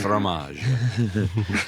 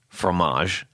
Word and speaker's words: fromage: first phrase I learned, fromage. Yes. Right now we say fromage, but you're supposed to go like fromage, right? It's the And you don't even pronounce the GE yeah, at the end.